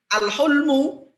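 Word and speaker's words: الحلم: Jadi sama-sama hak lam mim, tapi kalau bacanya al-hulmu dengan al-hilmu itu beda. Kalau al-hulmu itu mimpi ya.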